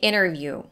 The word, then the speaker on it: interview: the i in the interview in such words as an interview native speakers usually drop the t that comes after an n uh but she also dropped the r so it sounds like interview it's time for your